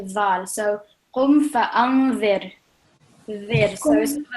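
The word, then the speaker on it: ذال: The Dhal, yeah? Dhal. So, for example, think about the word this. So, for example, you say this in English, yeah?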